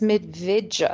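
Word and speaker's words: Medveđa: the village of, and I think it's Medvedja. It's got a little kind of diacritic on the D, and I've asked a Serbian friend if that's a pronunciation. He said, yeah, so we'll go with that.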